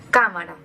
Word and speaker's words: cámara: Y en tercer lugar tenemos las palabras esdrújulas, como por ejemplo cámara, la cual tiene el golpe de voz en la tercera sílaba.